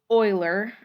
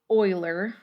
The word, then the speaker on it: Euler: So when it is Euler, okay, it's not gonna Okay, and that is pronounced correctly. It's Euler.